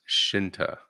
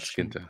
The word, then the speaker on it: Shinta: I would love to see it, It's pronounced Shinta, Mister not Skinta.